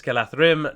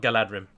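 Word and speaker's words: Galadhrim: It's pronounced like a voiceless TH is what it's called. And it's kind of the same sound as the word they. So Galadrim. So it's not hard, although I never really get it right. Basically, it's just TH. So if you ever want to pronounce that rightly, it's Galathrim, not Galadrim.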